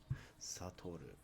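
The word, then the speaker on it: 悟る: to deserve or to discern or to perceive satoru number four is a Kizashi Kizashi is a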